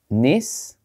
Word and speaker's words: Nice: Tu devrais prononcer le S à la fin du mot. Veux-tu essayer de le répéter? So, Nice.